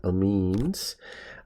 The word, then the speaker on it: amines: varieties there are things known as amines okay that's how you pronounce that amines and your amines are